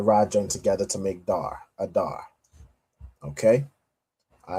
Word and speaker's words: Adar: Adar. Pronounced the exact same way. Adar, right? The a and the da and the rajin together to make dar. Adar.